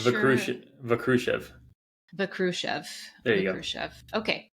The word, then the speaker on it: Vakrushev: I should have asked you, how do I pronounce your last name? It's Vakshruv Vakrushev.